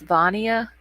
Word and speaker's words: Vania: Okay, it's pronounced Vania. Am I saying it right now?